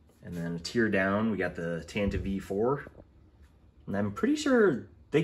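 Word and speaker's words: Tantive IV: down we got the Tanta V4 and I'm pretty sure they confirmed it's pronounced the Tanta V not the tantive right there are some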